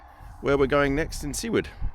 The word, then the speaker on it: Seward: So what we're going to do today is go to Seward, S-E-W-A-R-D.